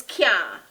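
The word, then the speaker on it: caan: Third Patois word is can. Can. And I spell that C-A-A-N.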